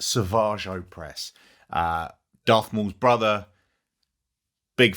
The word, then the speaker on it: Savage: In the Clone Wars, so if you've not seen the Clone Wars, you might need to check that out, because Sauvage, and that's how it's pronounced, Sauvage Opress, he's a beast.